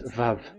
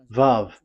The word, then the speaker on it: Vav: We called it as Vav. Vav. Your mouth is like closed. Vav. So it's V as in Vogue.